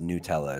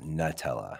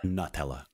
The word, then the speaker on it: Nutella: everyone it's not pronounced Nutella it's pronounced Nutella Nutella Nutella Nutella Nutella like nuts it's it's right it's